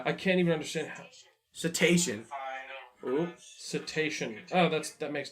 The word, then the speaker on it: cetacean: here we go I can't even understand house cetacean cetacean no that's that makes terminals let me move the string cetacean stranding it's an illness bee tree huh let me this is our house cetacean I wouldn't pronounce it like that cuz like